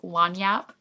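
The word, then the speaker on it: lagniappe: this is long Yap which is spelled like lag nappy but it's long Yap lon Yap means a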